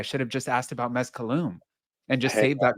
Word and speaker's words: Mezcalum: phonetic Spanish language, but it's Mezcal plus Tulum had a baby, so Mezcalum is how we pronounce it.